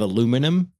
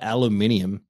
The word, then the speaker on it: aluminium: hard time saying is the pronunciation of aluminum in in the US because they call it aluminium yeah and I was